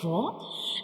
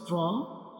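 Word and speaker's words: راء: To pronounce ra, we will touch the tip of tongue to the back side gums of upper to front teeth like ra, ra, ra.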